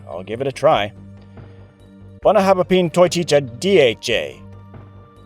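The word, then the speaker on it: Bunnahabhain Toiteach a Dhà: Professor Gene, this whiskey is called the “BUNNA-habba-peen-toy-teach-a-D-H-A.” Oh, boy, that sounds pretty tricky, but I'll give it a try: “BUNNA-habba-peen-toy-teach-a-D-H-A.”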